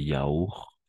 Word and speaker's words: yaourts: Du lait, de la leche, des yaourts, des yaourts, des yaourts. Solo hasta la R. Las últimas dos no pronunciamos.